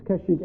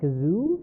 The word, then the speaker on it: Kashyyyk: In this Star Wars Holiday Special, though, they call it Kazoo? Or Kashu. Kashu or Kazoo. They pronounce Kashyyyk it is wrong. very similar to Kashmir.